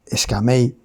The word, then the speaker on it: Skmei: Concisamente y específicamente es Skamei sonaría algo así.